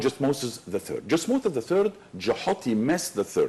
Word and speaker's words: Thutmose: That's hieroglyphic, how you can pronounce the name. Of course, we took it and we made it Thutmoses III, yes, right, which is wrong. So, but there is nothing called Thutmoses III. And if you went back to ancient Egypt, 1400s BC, and called somebody Thutmoses, nobody's going to give you any concern. Because you are not pronouncing something ancient Egyptian.